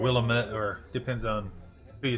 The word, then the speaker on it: Willamette: Looks like they're just down right off the Willamette River. That's all you need. Or right Willamette, or depends on who you talk to for pronouncing, but Willamette.